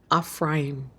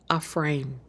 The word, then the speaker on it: Ephraim: And so all together, with the letters put together, this word in the Paleo Hebrew is pronounced Ephraim. Ephraim.